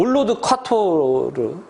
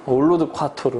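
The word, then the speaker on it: allroad quattro: 아주 유명하죠 어 으 올로드 쿼터 로 라고 한 발음이 좀 션 찾는 올로드 콰트로 음 올로드 콰트로 라고 하는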